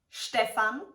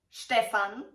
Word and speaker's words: Stefan: also different variations and spellings of this name Stefan Stefan or the female version Stephanie zaxtons can you guess the pronunciation I will quickly show you five other